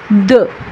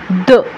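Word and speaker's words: deux: দ দ দ দ মানে হচ্ছে দুই। দর্শক, এটার উচ্চারণ কিন্তু দো না, দ।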